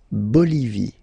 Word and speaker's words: Bolivie: Okay, final E not pronounced. La Bolivie.